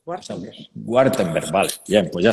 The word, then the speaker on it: Wartenbergh: Lo has pronunciado perfectamente, O sea, Wartenberg.